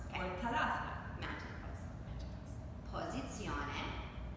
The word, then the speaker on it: posizione: Posizione. Posizione. Which means position. Posizione. Posizione. Della. Della. Montagna. Montagna. Posizione della montagna. Posizione della montagna.